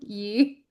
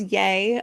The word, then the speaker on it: Ye: I His name is Yay allegedly. Um, not Yay. Oh, is it really? It's supposed to be called Yay. So, yay. People say yay.